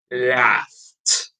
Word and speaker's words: laughed: pronounce it laughs so for all of these voiceless sounds the eb in the past symbol is going to be pronounced as a t okay asked laughed finally there is another